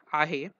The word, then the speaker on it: आहे: In present continuous tense, ahe or its forms are generally pronounced as ye along with main verb.